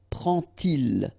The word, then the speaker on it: prend-il: to show you that you won't pronounce it like d to make the liaison, but you will pronounce it like t. And so you will get prend-il, prend-il, okay?